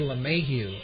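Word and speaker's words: LeMahieu: and at third base is number 17 DJ lahu l e capital m a i euu batting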